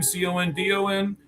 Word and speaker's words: Condon: Charlie Condon, I believe is how you say his last name, Condon.